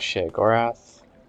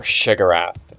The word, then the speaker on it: Sheogorath: So here you have Sheogorath. Or Shigarath, as he's sometimes pronounced in Morrowind, at least.